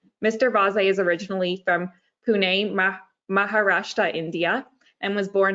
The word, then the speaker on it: Pune: The pronunciation is Pune, Maharashtra, but you did pretty good, Leah.